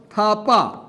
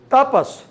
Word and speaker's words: Thapa: Rhetor's surname was Thapa. Many foreign people cannot pronounce Tha, or some people can't pronounce Tha. Some people can't pronounce Ra, La. Depends on culture to culture. And she pronounces Tapas.